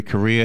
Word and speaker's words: Correia: great conversation with larry korea he's on the phone his last name by the way is spelled it's pronounced like the country spelled c-o-r-r-e-i-a if you're